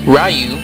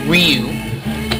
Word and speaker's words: Ryu: Ru or uh um I have no idea how to really pronounce his name I usually call him rayu but I hear a lot that his name is actually Ryu but if I have